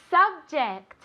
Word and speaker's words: subject: Subject. Subject. Vale, muy importante. Ject. Este sonido. J. Vale, otra vez es el sonido este como una CH, pero más suave.